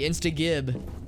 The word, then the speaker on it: insta-gib: I think about the hard G. Insta-gib.